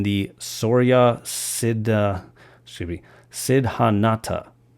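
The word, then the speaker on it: Siddhanta: sorya Sid excuse me Sid hanata I believe is how you pronounce that according to the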